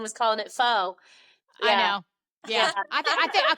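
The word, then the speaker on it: phở: calling it pho.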